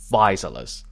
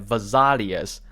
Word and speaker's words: Physalis: For example, Physalis. I always thought that this word was pronounced as Vesalius, which was why I retake a lot of times to get it right.